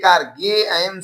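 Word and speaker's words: game: है ए के लिए गम से म अंत में ई है तो ई का उच्चारण नहीं करेंगे गेम मतलब खेल हो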